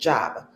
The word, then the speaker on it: jab: Jab. Jab. Mind you, that that phrase starts with a D. The D is silent. Um, it's DJ J A B, but it's pronounced jab.